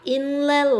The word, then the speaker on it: Inle: In 인사예요. 발음 특이해. People live by Inle Lake in Burma.